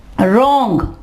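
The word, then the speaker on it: wrong: Okay, अब आ जाएगा रॉन्ग, रॉन्ग। ठीक है, यहां पे देखिए W के बाद R है तो W साइलेंट हो जाएगा।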